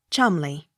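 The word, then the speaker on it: Cholmondeley: m o n d e l e y chumley c i r e n c e s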